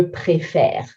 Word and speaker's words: préfère: Nous préférons, you can hear préférons, et, and then on sound, but those et are both with accent aigu going upwards. But when I say je préfère, préfère, the sound is different, the accents are different, et then et.